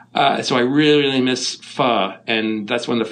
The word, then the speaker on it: pho: i kind of like what is that faux stuff and they realize it's pronounced pho and then i finally